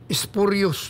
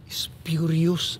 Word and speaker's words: spurious: pangalan ng Congressman yon spurious document ho Mr Congressman huri Furious ang pronunciation nasama ka na doon